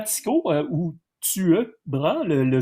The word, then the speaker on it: Tycho Brahe: En attendant, il y a un Tuebra, Tycho Brahe de son nom plus commun. En danois, le Y se prononce U.